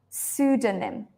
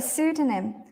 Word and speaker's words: pseudonym: it in English because in Greek they have this P sound and in English to be honest we actually don't have it so maybe again it's